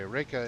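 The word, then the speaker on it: Reyka: think it's spelled it's kind of like the capital city Rea Vic um and uh anyway Reika is fantastic it's the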